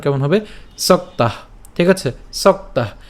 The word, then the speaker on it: সক্তাঃ: সক্তাহ, ঠিক আছে, সক্তাহ। এখানে খেয়াল করুন যে যুক্ত বর্ণটি রয়েছে, একে যদি আমরা ভাঙাই তাহলে আমরা উচ্চারণটা করলে পাই সক তয় আকার এবং হচ্ছে বিসর্গ সক্তাহ সক্তাহ।